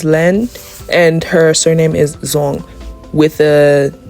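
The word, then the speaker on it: Duong: And the one that I chose is like the northern Vietnam pronunciation of it.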